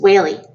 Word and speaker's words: Whaley: Whaley sit the teacher as she printed her name on the blackboard wh al e why I'm a whale with a wine for tail she laughed